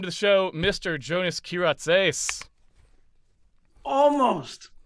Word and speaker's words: Kyratzes: at the end um just if you if you look at the word and pronounce it with an english or american accent it actually comes out fairly normal it trips people up because they think oh it must be it must be something different what's that what's that